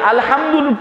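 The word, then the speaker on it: الحمد لله: এখানে আকারটা বলতে হবে আলহামদুলিল্লাহ। লিল্লাহ বলার শেষে একটু রাগ যেমন মানুষ হয় এরকম করে একটু রাগের ভাবটা চলে আসবে, যেমন আমার শেষ হলে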